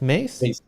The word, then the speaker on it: Mays: is it is it am I pronouncing it right Miss Right mace yes where did you get